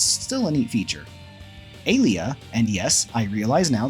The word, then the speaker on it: Alia: I switched to saying Alia at that time, as previously I was pronouncing her name as Aaliyah.